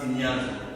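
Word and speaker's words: σινιάζω: Cribler là, le mot grec pour cribler c'est synéazo. Pour écrire, c'est seulement signazo. Comme je prononce en lingala, en français, signazo.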